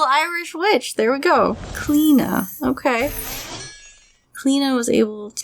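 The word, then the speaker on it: Cliodna: leona became an animagus apparently it's an irish name and it's pronounced clena so there you go cleena was a medieval irish witch there we go clena okay clena was able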